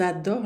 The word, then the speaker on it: adorent: Ils adorent le café. Ils adorent le café. Entre um pronome e um verbo, vocês lembram o ENT não se pronuncia nunca, jamais, nunca, certo?